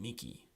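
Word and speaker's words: mihi: going and there are two other exceptional words the word Nikhil and Miki so we pronounce those with a K sound the only other exception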